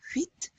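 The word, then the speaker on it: huit: We're also pronouncing this T. 8.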